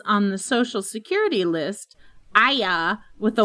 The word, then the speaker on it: Arya: Evans pointed out is that in British English, Arya has 2 syllables since the R is silent and pronounced Aya.